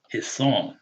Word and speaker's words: حصان: Hisan, the sword. Hisan. And the aleph is elongating that fatah. Hisan. So when we say hisanun, we know it's not 3 syllables again, right?